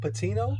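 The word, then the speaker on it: Patiño: How do you pronounce it? Patino.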